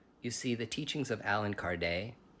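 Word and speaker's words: Allan Kardec: see the teachings of Alan Card a lot of people say alen card because they don't know how to pronounce his name he was a French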